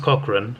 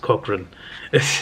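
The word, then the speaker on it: Cochrane: robbed off on him um but yeah it's pronounced Cochran but like I know a guy and I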